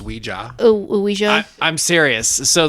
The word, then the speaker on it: Ouija: made them uh just combined the word the French word yes and the German word yes to create Ouija all right fun fact